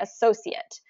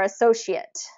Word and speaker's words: associate: um the word associate okay associate or associate associate associate both both I've heard cor correctly I've heard people use th that word correctly in those two different ways so it's it's kind